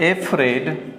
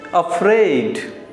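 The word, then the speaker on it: afraid: लेकिन जब आप इसे बोलते हैं एफ्रेड तो ये गलत हो जाता है। अ से शुरुआत करते हैं, ए से नहीं करते हैं। अफ्रेड, ही इज अफ्रेड tonight, मतलब आज की रात वो भयभीत है।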